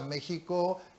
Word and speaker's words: México: inicialmente porque es el méxico antiguo a nosotros nos referimos a méxico generalmente con la equis pero no lo pronunciamos en esa forma lo pronunciamos méxico y mexicano no no